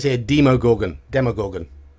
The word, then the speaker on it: Demogorgon: says here demo Gorgon demogorgon always been demogorgon demo as in demonstration different to demon don't know why because